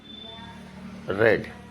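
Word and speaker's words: read: तो ही हैड रेड, ही हैड रेड। वह पढ़ चुका था, ही हैड रेड। प्रोनाउंसिएशन पे ध्यान देंगे। वर्ब की थर्ड फॉर्म रेड होती है, ही हैड रेड, इस स्पेलिंग सेम होती है।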